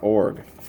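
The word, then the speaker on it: Iorg: Shu, McGee, Brown, Babyloni, Best, Fletcher, Stanley, Behringer, Kingman, Urbeck, Stewart, Show, Org. I've heard people try to pronounce the I, but we always heard Garth Org.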